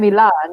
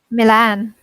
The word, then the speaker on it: Milan: We Mm. pronounce Milan differently because I say Mm. Milan and you say Milan, Milan.